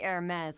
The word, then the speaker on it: Hermes: Please, just call me Hermes like you're used Hermes. Okay. Hermes. Okay, so I gotta think of this more in the French term with the H being silent.